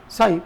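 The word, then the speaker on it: psi: P silent होता है, इसका नाम है साई। साई नहीं बोलते इसको, इसको बोलते हैं साई।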